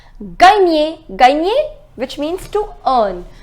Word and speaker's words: gagner: The pronunciation is gagner.